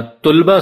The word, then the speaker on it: طلبہ: منہ سے طلبا یا طلبا سن کر سر پیٹ لیتے ہیں. تو یاد رکھیے درست تلفظ طلبا ہے یا طلبا. گویا کہ دونوں الفاظ کے تلفظ میں لام پر زبر پڑھنا لازم ہے.